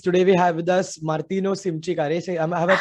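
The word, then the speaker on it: Martino Simcic: hello hello guys today we have with us martino simchi karere have i pronounced your name correctly yes martina simschick is correct hello everyone yeah so we have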